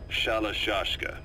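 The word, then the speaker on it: Shalashaska: Someone must have known about that, because somewhere along the line, Shashka got stuck on the end of Sharashka. The guerrillas were using the name amongst themselves. By the time I got to hearing about it, pronunciation had wound up as Shalashashka.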